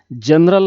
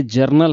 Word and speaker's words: journal: हैं German voucher की कुछ लोग इसे जनरल वाउचर कहते हैं जनरल तो यह जनरल नहीं है यह जरनल है जरनल तो याद रखिए इसका प्रणाम सेशन जज है उच्चारण जरनल करना है जरनल वाउचर इन टैली